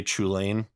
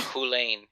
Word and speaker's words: Chulane: Spleenface correcting people from Hullen when they say Chulane? Effectively? Yeah, I believe so, yeah. I actually was mind blown by that pronunciation myself. I was also. Yeah, Hulane.